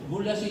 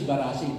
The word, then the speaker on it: Barasi: Now, this is a mispronunciation. Bulasi is Barasi.